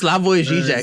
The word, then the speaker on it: Slavoj Žižek: Dude, how can I pronounce his Zoom in name? it. It's Slavoj Žižek.